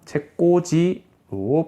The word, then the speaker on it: 책꽂이: 또 하나 더, 책꽂이는 쓸 때 책꽃이라고 쓰지만 발음할 때는 어떻게 해서 발음하는데? 책은 뭐 그대로니까 뭐 이대로 갈 거고요. 꽃지가 됩니다. 꽃이라는 글자의 마지막에 있는 지읒이 뒤로 그대로 넘어가면서 책꽂이로 발음이 된다라는 거. 그래서 발음과 표기가 일치하지 않는다라는 거 알아둬야 됩니다.